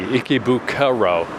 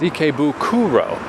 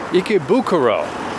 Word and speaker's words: Ikebukuro: well, because it's like I say it like there's an E, Ikebukuro, but it's Ikebukuro, Ikebukuro, Ikebukuro.